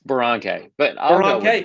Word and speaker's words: Boronkay: Boronkay. But I'll go with Boronkay.